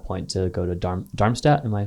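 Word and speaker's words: Darmstadt: So that was um your decision in that point to go to DAR Dharmmstat. Am I pronouncing that right? Yeah. So you went to Dharmmstat 98.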